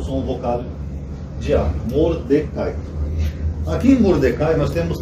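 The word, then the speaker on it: מרדכי: esse tio chamado mardoqueu M em hebraico é Mordecai que se escreve assim ou tentar pegar aqui aqui n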